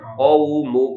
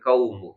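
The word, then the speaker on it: قومُ: kaumu ya bukan masalanilumu tapi qo itu bukan kaf ya tapi huruf qof maka dibacanya q ya quumu bukan kaumu ya oke satu-satu dulu ya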